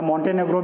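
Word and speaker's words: Montenegro: Fifth आपका है मॉन्टेनेग्रो, ठीक है, या मॉन्टेनेग्रो भी कहते हैं इसको, इसका अलग अलग उच्चारण है, ठीक है।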